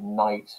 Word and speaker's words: knight: So words like knight, for example, it's got a K on the beginning.